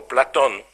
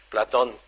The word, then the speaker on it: Platon: So it's Plato or Platon, as should be pronounced. Platon.